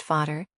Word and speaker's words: Vater: In German, vater, pronounced vater, and mutter, pronounced mir.